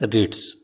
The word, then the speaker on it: REIT: REITs real estate investment trust या REIT, जिसका उच्चारण है रिट्स।